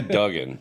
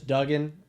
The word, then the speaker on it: Dugan: be like all right pretend it is double O but if you think